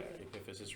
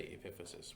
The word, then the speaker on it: epiphysis: yep yeah um good sometimes I I over pronounce and I say episis so that we can hear the different word Parts but most people will just say epiphysis which is and both are fine okay yeah um okay